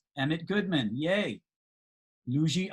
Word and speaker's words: Luidji: That would be Luigi. Ah, it's spelled Luidji.